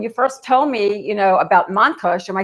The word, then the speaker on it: Montkush: But then, when you first told me, about Montkush, am I saying it right? Yeah, Montkush.